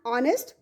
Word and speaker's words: honest: First one, my father is an honest man. Here you can use article an. H is silent here.